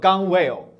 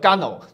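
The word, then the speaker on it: gunwale: 单词啊可能会念作 gun whale，因为 gun 是 gun 就是枪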